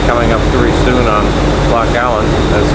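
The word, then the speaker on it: Loch Aline: We'll be coming up very soon on Loch Allen, that's spelled A-L-I-N-E, which is supposedly Uncle Donald's final resting place.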